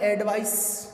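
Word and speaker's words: advice: जो पहला वर्ड मैंने लिखा इसका उच्चारण होता है एडवाइस, और दूसरा जो मैंने लिखा उसका उच्चारण होता है एडवाइज। यानी इसका मतलब तो होता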